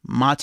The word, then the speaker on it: MATE: open souza um so uh some of the pronunciations of things are weird so like if you use ubuntu ubuntu mate it's mate it's it's that's the way they i love